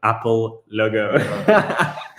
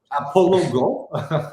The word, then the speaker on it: Apollo Go: Sorry, someone said, love how Elwar pronounces Apollo Go as an Apple logo. Yes, I heard that comment before. Fuck up, yeah. A bit of a slip. Apollo Go. There we go.